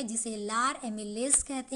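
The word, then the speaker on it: amylase: एमिलेज जो है वो बुक में लिखा था इसलिए मैंने साथ में ये भी लिख दिया, ठीक है। जो इसका प्रोनाउंसिएशन होता है वो होता है लार एमाइलेज, ठीक है।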